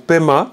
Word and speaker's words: Pema: textes sentjens on en a parlé ensuite pour pema ça c'est peut-être quand même intéressant vous avez paix pour lotus mais qu'on peut aussi écrire pma comme ça vous avez aussi à pema vous avez très souvent entendu peña peña peña